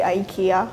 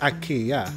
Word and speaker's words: IKEA: so it becomes English is so we say Ikea or when we speak English but that's not how you pronounce it yeah that's true I know that